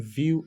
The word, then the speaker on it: Vue: notice that these words whenever we are saying View and view there are two different types of